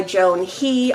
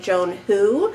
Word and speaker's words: Joan He: meant to find by Joan he although I think this is I think it's actually pronounced like Joan who because I am reading